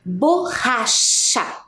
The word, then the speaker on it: borracha: Olha o som, borracha. Tem o mesmo som, né? O CH faz o mesmo som igual lá na palavra cachorro.